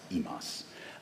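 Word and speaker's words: ὑμᾶς: here underlined as you is pronounced exactly the same imas both the Upsilon and the ATA are pronounced as an e sound as it is the in modern Greek as well so we get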